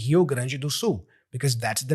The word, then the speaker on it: Rio Grande do Sul: You don't have to pronounce it with an English accent or pronunciation. So I read it because I speak Portuguese and I am from Brazil. I read it like a Brazilian.